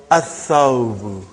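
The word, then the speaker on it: الثوب: So, brother, whenever there is a sun letter, you will not pronounce Lam.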